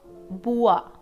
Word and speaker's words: Beauvoir: Beauvoir, that is how it's pronounced.